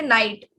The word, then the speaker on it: knight: pronounce it, we say night. Like there is day and night, Night types, right? So K is actually silent, so we don't consider it like in symbol.